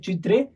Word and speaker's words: चित्रे: Okay, ये Indian word है, Hindi word है, इसलिए हम लोग उसको प्रोनाउंस करेंगे चित्रे।